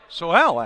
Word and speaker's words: Soel: Soel, actually, is how you say his name.